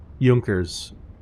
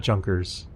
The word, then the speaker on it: Junkers: yeah I know right yunkers this is probably how they were pronounced not junkers for those not familiar with German pronunciation um okay so yeah